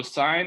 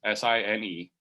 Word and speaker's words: sin: by each other so sine is spelled like this s-i-n-e but the abbreviation looks like this it looks like sin we'll still pronounce it sine so hold on we're